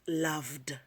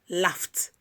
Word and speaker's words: laughed: So when ed comes after them, it is pronounced as t. For example, laughed, not laughed. Laughed, I laughed at him.